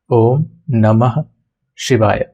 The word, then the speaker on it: Oṃ Namaḥ Śivāya: it in Roman here Shiva so this is pronounced as om namah shiv om namah shivay I will be chanting throughout uh the sit